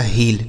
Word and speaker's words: heel: ठीक है, HEEL, एच से हो जाएगा, इससे डबल ई का उच्चारण बड़ी की मात्रा, एल से ल हो गया, यह लिखा गया आपका हील।